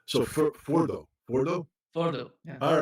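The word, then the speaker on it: Fordow: Yeah, the correct pronunciation is Fordo.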